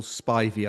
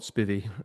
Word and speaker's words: Spivey: Anyway, and I've never known how to pronounce Nigel Spivey, I think, not Spivy, uh, which would be an insult in my country. I'm pretty sure it's Spivey.